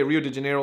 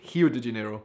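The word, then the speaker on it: Rio de Janeiro: anybody not from Brazil you do not say Rio de janeo like that you say it like hi de janeo also Kaho oh that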